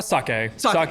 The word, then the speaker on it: sake: to start making and do you say saki or sake? Uh sake yeah sake I want to say how you say it.